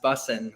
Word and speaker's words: Bussing: Chris and I said pronounce it right now busing right just like your last name right that new term I mean it's not even new but that's busing well my last name is busing it's kind of crazy